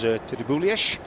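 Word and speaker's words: Tribulietx: And there is Tribulies. He tells me that's how they pronounce his surname. He's a Catalan.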